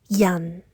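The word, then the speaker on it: 人: An sounds like undo, so yan, and not yan or yan, yan, yan.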